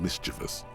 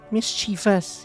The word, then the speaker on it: mischievous: people, known for being mischievous, full of trickery. They often lure people into their magical traps. There are no sub-races for the fairies. Mischievous, he said. I always pronounce it with an I there.